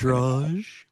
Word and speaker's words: arbitrage: Arbitrage. It's Arbitrage. pronounced arbitrage. French.